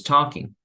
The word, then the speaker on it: talking: Was studying, was writing, was talking. Okay. Other thing, remember, usually when we have L's in the middle of the words, we don't pronounce the L.